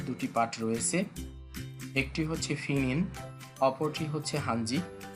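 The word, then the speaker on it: Pinyin: Chinese ম্যান্দারিন ভাষার দুটি part রয়েছে, একটি হচ্ছে ফিনিন, অপরটি হচ্ছে হানজি। পকে ওরা সাধারণত ফ উচ্চারণ করে থাকে, এই জন্য এটাকে ফিনিন বলা হয়।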